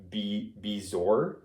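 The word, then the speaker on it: bezoar: I pronounced this right be bizor I believe it's how you pronounce it um and he said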